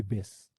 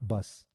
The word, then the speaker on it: bass: base okay I mean the pronunciation should be base not bus okay first of all